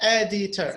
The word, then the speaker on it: editor: middle d sir yes editor it's 3 3 syllables so we have editor and the first one is stressed the same thing with